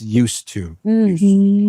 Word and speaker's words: used to: And this used to has a D in there, but the D is silent. It's used to.